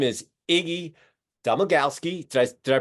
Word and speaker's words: Iggy Domagalski: Canadian dialect going but uh his name is Iggy domagalski did I did I pronounce it right you nailed it David yeah